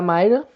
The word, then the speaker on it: Mira: Logo no início da série, temos aqui a Mayra, ou Mira, dependendo da sua pronúncia, que é interpretada pela